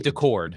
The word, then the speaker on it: Daccord: Every opportunity to take the lead, and for whatever reason, I mean, Seattle's goalie, how do you pronounce this? Joey Daccord.